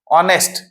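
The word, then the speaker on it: honest: ऑनेस्ट एच इसमें silent है। आवाज आ रही है।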